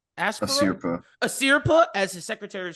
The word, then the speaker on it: Asirpa: Aspra, how do you pronounce their name? Asirpa.